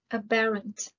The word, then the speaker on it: aberrant: occupy retain maintain apparent aberrant the stress is on the second syllable aberrant means a deviation